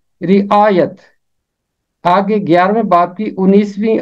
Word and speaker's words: رعایت: یہ ختم ہوتا ہے، پہلے کے نیچے زیر اور یہ کے اوپر ہمیشہ زبر، اور درست تلفظ ہے رعایت۔ آگے 11ویں باب کی